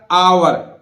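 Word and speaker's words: hour: है इसी तरह देखिए एच ओ य आ तो एच यहां भी नहीं बोलेगा आवर अब इसको उच्चारण ओ यू आर जैसे हम अवर बोलते हैं ना ऐसे मत कर देना ये आवर आवर माने घंटा हावर नहीं बोलेगा इसी तरह नेस्ट नहीं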